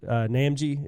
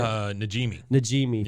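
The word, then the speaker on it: Najimy: I don't know how to pronounce her last name, but the lady that does Peggy's Namji, is that how you say it? Najimi.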